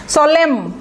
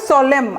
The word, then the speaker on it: solemn: সোলেম, এটার উচ্চারণটা দেখেন, সোলেম, SOLEMN, উচ্চারণটা হবে সোলেম, এনটা উজ্জ্ব থাকবে, সোলেম।